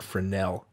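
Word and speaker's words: Fresnel: you don't say the S you say it friend Nell accent on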